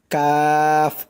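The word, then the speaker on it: كاف: উপরের তালুর সঙ্গে লাগাইয়া কাফ উপরেরটা পড়ছি কফ আর এটা পড়লাম কাফ উপরেরটা হচ্ছে মোটা করে আর এটা হচ্ছে শক্ত করে মোটা করে কফ আর এটা হচ্ছে শক্ত করে কাফ দেখুন এই দুইটার পার্থক্য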